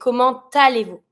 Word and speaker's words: comment allez-vous: So we're going to say, comment allez-vous? You're going to pronounce the T.